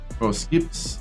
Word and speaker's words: Poughkeepsie: Is that Skips?